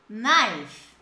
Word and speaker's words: knife: Na hora de pronunciar, corta o K e coloca um I ali no I. Knife.